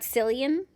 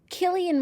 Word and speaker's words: Cillian: attempt to pronounce correctly Chilean Murphy says kill Killian I think and not psyllium I'm not sure Killian